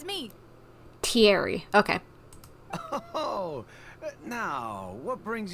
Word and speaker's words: Thierry: So, Terry, that's how you pronounce the name, I'm guessing. Hey, Thierry, it's me. Thierry, okay.